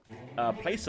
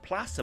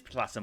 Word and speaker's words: placer: It's like, for example, somebody in the chat once said, "Oh, placer mines is pronounced placer mines." I looked it up. It actually is placer mines, but I'm not changing it because I've said that for 15 years.